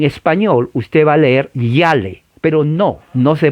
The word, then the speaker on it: Yale: Se escribe Yale, con Y-A-L. Pero recuerde, la A en inglés es A. La I no se pronuncia. Claro, en español usted va a leer Yale, pero no se pronuncia así.